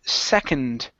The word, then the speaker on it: second: here is the word second instead of suck second it's e SE second sick uh open